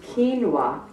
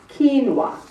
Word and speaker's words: quinoa: 140 calories get to zero the next one quinoa is pronounced quinoa and I just pronounced it wrong quinoa it has eight grams of hunger busting protein